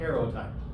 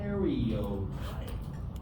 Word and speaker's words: karyotype: Because people forget the first Y. They call it a karyotype. I don't know why. Maybe because people don't pronounce it correctly. A karyotype. Like in karyote, as in U and pro.